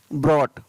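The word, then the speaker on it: brought: BROUGST, ब्रॉट, क्या पढ़ेंगे इसको, ब्रॉट। नेक्स्ट, GS कुछ शब्दों में उच्चारण है वो फ भी होता है, यानी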